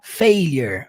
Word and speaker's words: failure: a palavra failer failer por mais que se inscreva failure você vai falar failer failer preste atenção agora